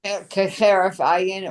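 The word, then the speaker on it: כהרף עין: Keheref ayin or Not cheref, that's a chet, a hay.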